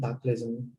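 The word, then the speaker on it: Taplejung: Can you pronounce that again? It's a Pastor Ilam and Taplejun corridor.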